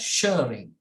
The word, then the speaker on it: Schering: So this is pronounced as Shearing.